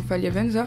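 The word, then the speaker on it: Faliavanja: élèves se sont occupés de faire connaître l'association Faliavenza France Majinga pour la santé.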